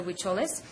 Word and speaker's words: Huicholes: as the Huichols, or in Spanish they would be pronounced the Huicholes.